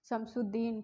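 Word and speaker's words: شمس الدین: अलाउद्दीन जलालुद्दीन सलाल शमशुद्दीन। ठीक है? यहां पर भी वही है शम शुद्दीन यहां पर अलिफ और लाम यहां भी दोनों साइलेंट है।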